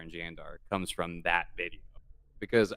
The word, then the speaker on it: Jandar: age old debate about yandar and jandar comes from that video because I did the research on Old Norse and I found out they pronounced her J's with a Y cre the debate for